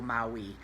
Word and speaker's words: Maui: ruling down to ol Maui so Maui Maui is actually ma UI Maui the island in Hawaii but it's pronounced Maui in this song so it's a damn